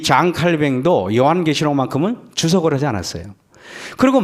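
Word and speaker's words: Jean Calvin: 여러분, 세계적인 종교개혁자가 영어 발음으로 존 칼빈 그러지만은 프랑스어 불어는 장 칼뱅 그래요.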